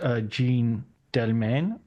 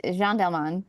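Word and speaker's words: Jeanne Dielman: Um, when it came to uh Chantel's um Jean Delane, is that a correct pronunciation? Is is Jean Delman Jean Dman?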